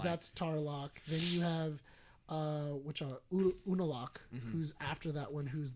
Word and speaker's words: Unalaq: It's Unalaq.